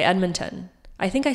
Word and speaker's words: Edmonton: 78 people said it should be pronounced as Edmonton. That's the crowd favorite. 57 said it should be pronounced as Edmonton, and some strongly felt that you need to pronounce the D. And then some people actually said it should be pronounced Edwardmonton.